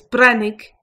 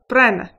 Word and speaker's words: Breathnaigh: You could alternatively say brah-nee, also pronounced as Breathnaigh or Breathnaigh. Breathnaigh.